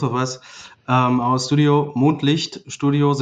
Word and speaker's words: Mondlicht: us um our studio moonlight studios it's german pronunciation because the background story